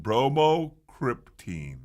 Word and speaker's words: bromocriptine: Bromocriptine.